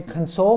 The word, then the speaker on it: console: I had to console my daughter when her fish died. I have an Xbox console that I play every weekend. Console, we emphasize the second syllable.